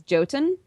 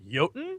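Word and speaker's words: Jotun: out today I think is joten oh there there's one with a unique aesthetic or as the internet will correct you yoten yoten yes y there you go don't worry they scolded me for pronouncing A J so yeah I was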